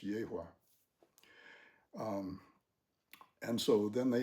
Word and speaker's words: Yahweh: He was of the tribe of Judah and the tribe of Judah was the tribe of Yahweh or Yahwh I think is it how it ought to be pronounced Yahwh.